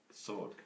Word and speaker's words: sword: signed every good sword sword sword so much it's a silent w yeah Ares sword has